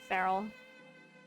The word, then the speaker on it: ferrule: it correctly it's f-e-r-r-u-l-e I think feral rhymes with Barrel close enough uh but